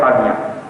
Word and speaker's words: Qadian: Because all scholars of old time would have pronounced Qadian as Qadian.